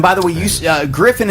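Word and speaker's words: Gryphon: the way use uh griffin is not spelled you know like normally yeah normally so how is it spelled g-r-y-p-h-o-n yep l-a-b-s griffin labs griffin is spelled like the mythical creature if there are any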